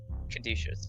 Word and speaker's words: Caduceus: Caduceus is how you pronounce that. Thank you. Sorry, I paused because I was trying to determine if I was about to sneeze or not. I wasn't. Caduceus.